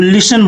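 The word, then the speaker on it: listen: में क्या बोलेंगे तो लिसन बोलेंगे एल आई एस टी इ एन यहां पे टी साइलेंट होता है इसको लिसन बोलेंगे लिसन ठीक है सुनो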